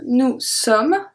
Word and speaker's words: nous sommes: Then we have nous sommes, ES, not pronounced.